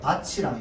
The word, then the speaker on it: 밭이랑: 그쵸, 밭이랑이 돼야 됩니다. 모음으로 시작하는 형식 형태소죠. 티읕을 만났단 말이야. 바, 티인데 티가 치로 변해서 밭이랑이 되는 거야.